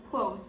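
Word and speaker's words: Kvothe: main character is quote it's written like this and uh you pronounce it as quoth and we follow clothes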